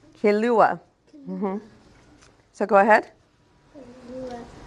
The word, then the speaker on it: Kilauea: Um it's it's pronounced uh Kilauea. Kilauea.